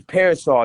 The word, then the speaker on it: PRSL: It's Parasol.